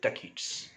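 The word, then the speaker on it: ducats: of uh venice right so it's written d-u-c-a-t-s right but pronounce it the kids okay so he wanted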